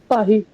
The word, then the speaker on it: Paris: For example, if I'm saying Paris in French, how will I say that? Hmm. Pahi. Pahi.